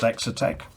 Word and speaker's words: Exotek: the uh hexatech parts i think it's pronounced exotec not sure if it's meant to be a take on exotic but it's spelt exotec so the only parts